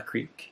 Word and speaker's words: Kriek: So at its most basic, this is an example of a Kriek, K-R-I-E-K, but pronounced, like a creek, like a little stream.